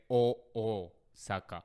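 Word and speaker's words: Ōsaka: But technically in Japanese, we say Osaka. Okay. So phonetically, if you were to read it, it's like a double O. Exactly. It's a longer O.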